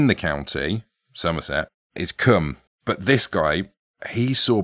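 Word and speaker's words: Combe: Taunton to come sing Come comes at Nicholas it's spelled c-o-m-b-e but I think it's pronounced come hmm or come that's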